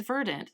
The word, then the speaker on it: Verdant: This time we are talking about Verdant, which the internet insists is indeed pronounced Verdant and not Verdant.